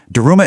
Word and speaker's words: Daruma: Daruma is actually just the Japanese pronunciation of Dharma.